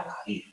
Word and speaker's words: Aguirre: que tiene cuando pronuncias el español con con acento en realidad era agir ya está magu ahí está magire fijaos como